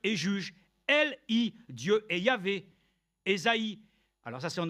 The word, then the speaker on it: Yahvé: Mais il est de communément utilisé qu'il ne pouvait que se prononcer de cette manière par Yahvé.